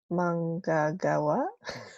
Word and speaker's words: manggagawa: I just want you to observe that when you put this ng in one syllable, the sound is that you don't hear the G sound, right? It's a right? But when Mm, it's by itself, you have to pronounce a letter G.